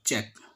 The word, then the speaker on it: cheque: अगला है चेक, CHECK और CHEQUE चेक, दोनों का सेम प्रोनाउंसिएशन है।